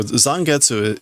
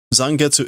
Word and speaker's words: Zangetsu: So, Zangetsu is Zangetu is not, you know, like you're not Zangetu or it isn't Zongetu.